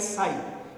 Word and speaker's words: psi: इट is here P is silent, तो PSI इज साई।